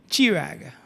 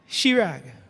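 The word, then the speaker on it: Chirag: Some people would pronounce it chir where whereas others would pronounce it shirag following the same pattern as ch h a r l e n e which is pronounced shallen.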